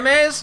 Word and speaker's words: Raimais: Ry, how do I pronounce it? Ray. Raymes.